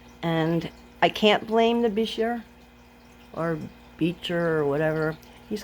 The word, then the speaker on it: Bichir: I have looked it up and it says that it's supposed to be pronounced Bichir, but it doesn't roll off the tongue so easily for me. So I've been calling it Bichir.